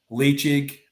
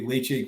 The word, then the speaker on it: Ledaig: Deanston, Ledaig, Tobermory, Bunnahabhain, our blends, our gins.